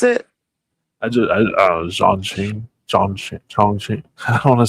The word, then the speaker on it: Chongqing: Zhongqing. I don't want to say it like that because it sounds yeah, I think Qing is king. So Chongqing.